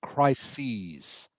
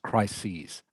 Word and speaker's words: crises: just ah key and this word is pronounced crises okay if you see this word here crisis crisis crises all right it is the plural of crisis a crisis is a bad problem which you probably know that so the plural is pronounced crises crises uh and the last